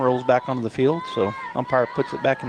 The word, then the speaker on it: So: How do you pronounce her last name? So.